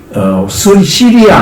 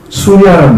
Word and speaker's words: 시리아: 그래가지고 다시 시리아 안디옥으로 들어가요. 시리아란 말은 영어식 발음이고 수리아란 말은 한자식 발음이에요.